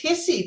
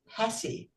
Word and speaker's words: Hessie: Our evaluator is distinguished toastmaster Hessie Johnson. I know it's it looks like it's hissy, but it's actually pronounced hessy.